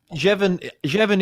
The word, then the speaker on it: Jevon: Yeah, good afternoon, good morning to you, Jevon.